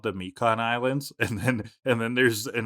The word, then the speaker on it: Mikan: So it's clearly supposed to be the Japanese word for orange, which is Mikan, but all the voice actors just say Myken.